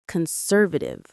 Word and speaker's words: conservative: A key word here, as you can probably guess, is conservative. Conservative. Conservative. The stress is on sir.